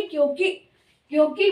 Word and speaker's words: क्योंकि: भी गलती नहीं होगी अगर आप बोले क्योंकि की अगर बोलेंगे तो आप खुद ही कंफ्यूज हो जाएंगे तो की साउंड आ रही है लंबी वाली तो लिखने में छोटी नहीं क्योंकि बोलो भी क्योंकि क्योंकि बोलने से आदर